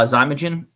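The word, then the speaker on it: Xymogen: a daily regimen uh zagin uh it's spelled but instead of a z it's spelled x y m o g n um do yeah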